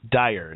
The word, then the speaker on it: Dier: It's Dyer. Is that correct? That's correct. Uh just think of Dire Strace, but it's it's all right.